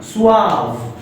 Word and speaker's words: suave: इसकी प्रोनाउंसिएशन पे ध्यान दीजिएगा. suave.